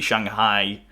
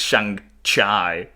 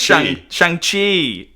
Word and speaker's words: Shang-Chi: Maybe Shanghai Shang-Chi, I think I'm saying it wrong, is set... Shanghai is a place. I know, that's why but I think it's Shang-Chi. Bye. Let me Google it. It is Shang-Chi.